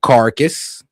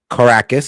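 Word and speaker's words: Caracas: Venezuela early this morning, the capital city of Carcass or Well, just making sure I pronounce Yeah, Caracus.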